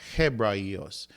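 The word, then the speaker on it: Ἑβραῖος: And you have Ebrayos. So, since you have an epsilon at the beginning, and then you have a rough breathing mark, in this case you have Hebrayos, and that's the word for Hebrew.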